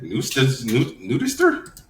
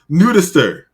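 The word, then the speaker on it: Neustaedter: uh Alex what the hell is that saying nuisance that sounds Swedish is he Swedish he is an American actor no it's American with a day like this new sister he's from it's pronounced nudistor yeah n-e-u-t-a-e -d-t-e-r he's from Kansas dude why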